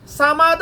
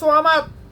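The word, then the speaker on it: صمد: কারণ সামাদ আর সোয়ামাদ, আমরা সূরা ইখলাস পাঠ করি, বেশিরভাগ মানুষ পাঠ করে সামাদ, কুল হু আল্লাহু আহাদ আল্লাহু সামাদ, বেশিরভাগ মানুষ এটা উচ্চারণ করে সামাদ।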